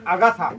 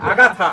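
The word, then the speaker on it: Agatha: আর ছোট মেয়েটার নাম হচ্ছে আগাথা। আগাথা না কিন্তু আগাথা।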